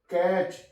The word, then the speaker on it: catch: मैच, MATCH, T silent है यहां पे। मैच, कैच, CATCH, कैच।